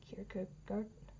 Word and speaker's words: Kierkegaard: Danish, so I'm probably way off pronunciation. Thank you. Kierkegaard.